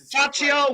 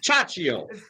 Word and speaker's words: Ciaccio: special guest today is Ciaccio with Darley Defense, and as usual, I'm here with Nick and Buddy. Ciaccio.